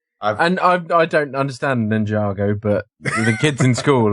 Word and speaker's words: Ninjago: have to interject and and say it's Ninjago yeah I think it's Ninjago right that's sorry I don't mean to be pedantic but never heard of it pronounced as ninj Go I mean on on